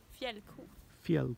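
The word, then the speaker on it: fjällko: and how do you say that in Swedish felu felu yes cool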